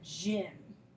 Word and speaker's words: gym: I is also interesting because the letter Y can sometimes create a short I sound, like in the word gym.